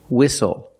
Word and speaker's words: whistle: We also see the silent T when you have the spelling pattern S-T-L-E. Like these words, whistle, castle, and hustle.